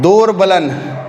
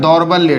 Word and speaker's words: दौर्बल्य: ठीक है, इसका शुद्ध उच्चारण होता है दौर्बल्य। ठीक है, याद रखिएगा, दौर्बल्य, र का साउंड द के बाद ही आता है, यानी द आधा है, यहाँ पे र नहीं है, पूरा नहीं आ रहा।